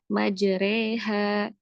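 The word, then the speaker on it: مجريها: Jadi itu untuk Quran surat Hud ayat 41 pada kata majreha bacanya mudah ya majreha ya.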